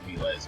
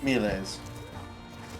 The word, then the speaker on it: Miles: Miles Gloriosus pronounced mles by the way. What? Pronounced mles. Melees. M. Right. Latin. Yeah, I know.